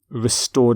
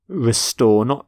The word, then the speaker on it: restore: Restore democracy. Note the pronunciation of restore, not restore, but restore.